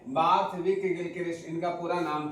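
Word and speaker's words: Borthwick: विक कह लीजिए या वक कह लीजिए, ऐसे विक ही कहिएगा। उच्चारण में बार्थविक गिलक्रिस्ट इनका पूरा नाम था।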